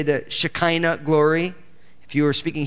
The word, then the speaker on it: Shekinah: In Hebrew, the accent's always on the last syllable. Okay, so we say Shekinah because that's the way we speak English. In Hebrew, it's Shekinah. That's the way they would say it.